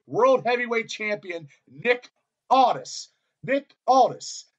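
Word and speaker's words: Aldis: say the NWA World Heavyweight Champion Nick artists Nick Aldous Nick Aldous I could not say that word yesterday if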